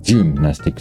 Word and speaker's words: Gymnastik: perhaps for most cases it is very uh crucial that we don't use the E uh tone thing but rather an U because like I said gymnastic and for German is gymnastic so or something now